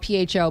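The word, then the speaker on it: phở: Pho is the one that is the most famous, and that's spelled Pho, but it's pronounced pho.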